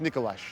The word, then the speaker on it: Nikolaj: He's pronounced Nicolash.